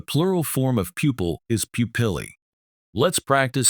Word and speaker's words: pupillae: The plural form of pupil is pupillae. Let's practice saying it together. Pupillae. Emphasize the bolded syllable, pill.